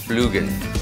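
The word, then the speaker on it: Splügen: Now, there are 2 umlauts over the U, so I think it's pronounced Splugen.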